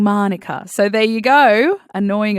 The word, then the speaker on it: Manuka: Also, by the way, on the Queen, Manuka was apparently originally pronounced Manuka, but Her Royal Highness strained it up. I never know how to say that right, but Australian accent. And it ended up being Manuka.